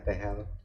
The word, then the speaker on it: tegel: Tegel tapi bacanya tehel.